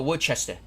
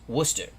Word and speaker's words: Worcester: massachusetts yes you do it's not was a lot of people go worchester it's worcester we're not in england it's worcester here we go first fight these